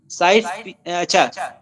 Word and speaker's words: Sykes: Convert करने के बाद एक एग्रीमेंट हुआ, उस एग्रीमेंट को कहते हैं साइक्स पिकॉट एग्रीमेंट कहते हैं, इसको माइनर एशिया एग्रीमेंट भी कहते हैं। साइक्स पिकॉट स्पेलिंग लिखें SYKES, ये बुनियादी तौर पर मार्क